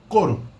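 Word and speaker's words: couro: and e i or in colloquial speech pronounced like individual simple vowels so o is pronounced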